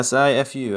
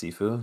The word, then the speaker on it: Sifu: Yeah, Sifu. I think it's pronounced Sifu. I would assume Sifu? it is. Yeah, it's like seafood, but without the D.